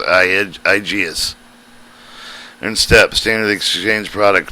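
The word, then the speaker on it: IGES: This is imported geometry for the transfer that usually happens with the Initial Graphic Exchange Specification, pronounced IGS.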